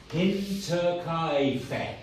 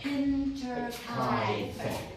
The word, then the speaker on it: Hinterkaifeck: Hinterkaifeck. Hinterkaifeck.